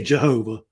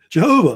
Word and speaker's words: Jehovah: using the term Jehovah, which is actually how they pronounced it originally, Jehovah, because back then the J was silent. Now they say Jehovah, but it's Jehovah.